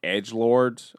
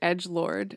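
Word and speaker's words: EDGLRD: know that it I you said Edgelord, and I'm like, huh? Yeah, cuz it's spelled E D G L R D all caps.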